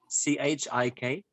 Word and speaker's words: Chikitsa: is the healing art where they say Kalari Shikitsa, and Shikitsa means treatment or therapy. Shikitsa. Chikitsa. Shikitsa. Okay. And that means? Treatment or therapy. Very well. Carlos, a pronúncia então é kalaripait, tá?